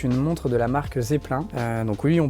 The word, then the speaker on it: Zeppelin: sélection et c'est une montre de la marque Zeppelin donc oui on prononce bien comme ça la marque c'est une